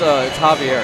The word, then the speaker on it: Xavier: So it's Javier.